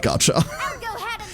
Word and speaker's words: gacha: Personal pet peeve, there is no T in the word gacha.